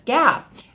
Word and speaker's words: GAAP: just the word gaap which people pronounce as Gap and that's generally accepted